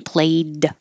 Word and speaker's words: played: a little shorter plate the final sound in played is voiced so the a gets a little longer and it's very tiny